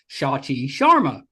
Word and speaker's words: Shachi Sharma: Uh but your name actually is pronounced close to the way it looks.